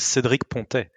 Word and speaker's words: Cédric Pontet: Okay, so Cedric Pontet, and I hope I got that decently. Yeah. My pronunciation is not if you want the French accent, it's Cedric Pontet.